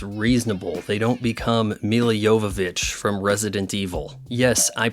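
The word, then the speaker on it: Milla Jovovich: diversity is our strength guys and when women do get involved in the action it's reasonable they don't become Mila Jovovich from Resident Evil yes I pronounce that right you can't find another Channel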